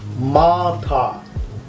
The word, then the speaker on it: মাথা: Number 1, head, that is Maathaa. You see the spelling, I have used double A. Double A means you have to pronounce it as A sound.